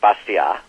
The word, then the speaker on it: Bastiat: not long dead um the names pronounced something in French like basa but it looks like bastiat uh in terms of English spelling and pronunciation uh who said um